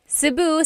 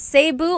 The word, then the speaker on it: Cebu: So, technically in the Tagalog alphabet the letter E can be pronounced E or E like the letter I. So, I say Cu. Cebu. And I know some people say Sabu, but usually it's either Cebu or Sebu.